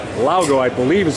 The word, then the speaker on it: Laugo: Actually, it's not Alien, it's Laugo, I believe is how it's pronounced.